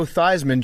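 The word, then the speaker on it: Theismann: Like Joe Thyman changed his name to to rhyme with Heisman and then he lost the Heisman.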